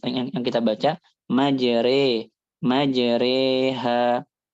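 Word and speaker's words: مجراها: yang kita baca majre majreha. Walaupun ada beberapa riwayat yang bacanya mujroha aslinya tapi hafuz bacanya majri.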